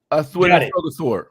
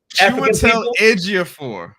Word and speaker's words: Chiwetel Ejiofor: Because it got Denzel and Athwega. Got it. You say his name. Athwega. Oh my God. What? What's the man's name? Chiwetel Ejiofor.